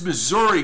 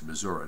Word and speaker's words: Missouri: Okay, so I think that's how you say it. It's Missouri, not Missouri. But welcome aboard.